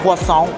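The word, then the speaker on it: croissant: classic bread pudding, some quason. Got to pronounce it correctly. If you're in France, they'll correct you. Quasant creme brulee action.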